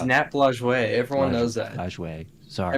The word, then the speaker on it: Lajoie: The Napoleons were named after Nap Lajoie, and that's It's Nap Lajoie. Everyone knows that. Lajoie. Sorry. Everyone knows how to pronounce it.